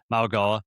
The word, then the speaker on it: Mauigoa: I always want to say his name wrong. I think Mauigoa. Yeah, no, that's right, Mauigoa.